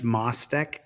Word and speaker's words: Mostek: Her name's Mostek. That's how you say her name, M-O-S-T-E-K.